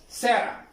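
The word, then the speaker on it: Sarah: For example Ali, short name सैरा। ये भी याद रखो, स्कूलों में ये सैरा या सारा, अमेरिकन प्रोनाउंस इट सैरा, बट हम कहते सारा।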